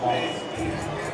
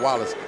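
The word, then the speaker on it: Wallis: So a flagrant foul called against Marcus Wallace as Benji Wallace hits the free throw. They're not related at all. Their names are not spelled the same, although it sounds alike.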